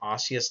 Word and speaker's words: osseous: does it have bone tissue we call this osseous tissue it's how you pronounce that osseous tissue but you also have nervous tissue there